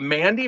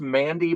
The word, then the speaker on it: MVNDI: Um cuz they spell it with a V, but I think it's Mandy makeup and then you can see even makeup they spelled like it with a V instead of an A, but also a V instead of a U.